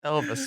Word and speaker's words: Elvas: It's Elvis spelled with an A.